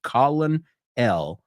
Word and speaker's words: colonel: How crazy is that the word colonel, si lo estoy diciendo como se escribe, colonel, sounds like colonel. Where's the R?